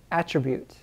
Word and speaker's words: attribute: b u t e attribute attribute this is a noun okay noun all right there is a verb that looks like this a different pronunciation but we're focusing on the noun attribute attribute an attribute is some